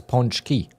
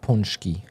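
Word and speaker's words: pączki: say pearl like multiple it's punch key not punki P how would I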